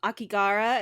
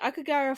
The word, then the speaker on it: Aokigahara: Akigara is how I'm going to say it. I know that's not the correct pronunciation, but the Aokigahara Forest is an actual forest.